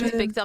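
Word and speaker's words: In/Spectre: Oui, ça se prononce Inspecteur, mais je dis Inspectre aussi.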